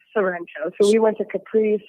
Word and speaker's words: Sorrento: Capri and Serrano or Sorrento? How you pronounce it? Sorrento.